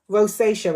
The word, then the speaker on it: rosacea: Um, ros uh, rosacea, rosacea it's pronounced.